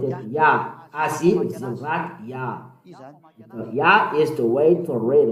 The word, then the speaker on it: Yah: From the left, to read it is Yah. How to read it? Yah. Azi, Zimrat, Yah. Yah is the way to read it.